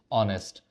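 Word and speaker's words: honest: जैसे H silent हो जाता है। तो ये साउंड किसका करता है? वोवेल का करता है। ठीक है? ऑनेस्ट।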